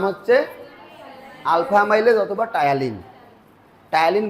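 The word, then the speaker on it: ptyalin: টায়ালিন বানানটা আবার দেখো পি দিয়ে শুরু, ঠিক আছে?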